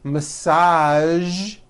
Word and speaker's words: massage: television very good now there are only a few words that have the voiced sound at the end a few of these words are the color beige the word massage and the word prestige okay now that you are